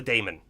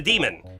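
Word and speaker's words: daemon: script kind of thing that's called a Damon D AE m o n a lot of people call it a demon and that's also fine too um the reason why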